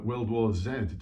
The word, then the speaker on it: World War Z: up from the film world war z uh world war zed depending on whether you believe in the american pronunciation or the british pronunciation anyway brad pitt wells